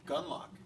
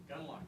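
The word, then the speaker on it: Gunlocke: Gunlock. Gunlock, yes. Yeah, with an E. So you know that when you have an extra superfluous E that you don't pronounce, it's expensive.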